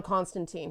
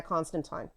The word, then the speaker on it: Constantine: written um but whatever apparently that's canon but it's time like wine but uh she is